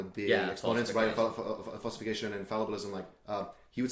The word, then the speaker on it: fallibilism: Yeah, and it goes into fabulism. Is that correct? Fallibilism. I always say it wrong.